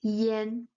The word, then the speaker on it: yan: But since um for their articulation properties when pronounced together it sounds more like yen yen. It's a slightly open A. It's way near to the A, but it still sounds Yen Yen. So whenever it's E A Y A N or E A N, it's always pronounced Yen Yen.